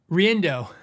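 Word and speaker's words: Riendeau: Now, when I say complicated name, Riendau is how you say it cuz he I used to take lessons from him. So, he told me, "Riendau." Ray Riendau. Phonetically, if you read his name, good luck with that. You'll never get that out of his name.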